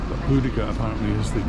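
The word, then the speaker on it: Boudica: on my right here see the statue of buddhica which i always have mispronounced as beaudacia but hudika apparently is the correct pronunciation and that really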